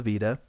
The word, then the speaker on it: Vita: saying it's going to be called the Vita which makes me think of Velveeta and that's kind of how it's pronounced a little bit like Velveeta like like the cheese yeah yeah so we'll